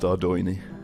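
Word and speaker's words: Ardougne: And yes, I do know it's pronounced Ardoini. Ardoin, but I've always pronounced it Adun, so I don't think I'm going to change anytime soon.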